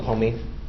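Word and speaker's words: Homme: My name is Homey. Homey? Yes, Your Honor. Spell it.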